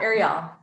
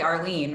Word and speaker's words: Arielle: rates a little busy is it ariel did i pronounce it correct yeah arielle arielle sorry that's okay um you actually did better some people say arlene or they just completely butcher it so um yeah my